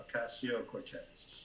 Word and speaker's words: Ocasio-Cortez: How do you pronounce her name? Okay, Ocasio? Alexandria Ocasio-Cortez.